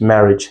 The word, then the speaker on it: marriage: The next we have is marriage. Not marriage. Marriage. Marriage. Marriage. Right. A here it's silent which we do not pronounce them as well.